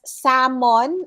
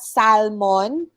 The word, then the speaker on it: salmon: it okay tuition correct it's salmon not salmon in filipino it's okay we call it salmon but then in english it's salmon silent letter l okay photograph correctly pronounced